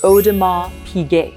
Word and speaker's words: Audemars Piguet: Now, why is it Audemars, not Audemars? Because there's an S on the end of it. Well, in French, if there's an S at the end of a word, you do not pronounce it. You just don't see it, like slash it out, invisible. And that becomes Audemars, okay?